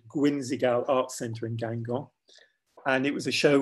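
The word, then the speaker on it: Guingamp: small town in Brittany called Gangong, which sounds almost Chinese, doesn't it? Or Oriental, certainly not French, but it is French and it's spelled G-U-I-N-G-A-M-P. And I started it the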